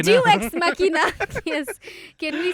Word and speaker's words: Deus ex machina: Jew ex machina? Deus ex machina.